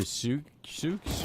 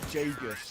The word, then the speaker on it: Jagus: The Zooks? How do we do that? Oh, yeah. Jagus. Yeah. Jagus. I originally was calling him Zooks, right? Like, similar to that, but then somebody did tell me it's Jagus.